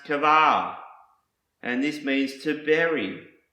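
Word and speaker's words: קָבַר: Another Hebrew word that starts with the letter Qoph is pronounced kavar, and this means to bury.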